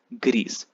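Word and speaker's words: grise: s is silent gree the feminine gets an e so you have to pronounce the s becomes greece okay gree and greece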